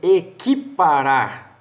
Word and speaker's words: equiparar: U não é pronunciado em equiparar.